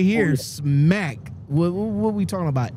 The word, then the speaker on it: Smacc: them well man so this company right here smack what are we talking about s SCA or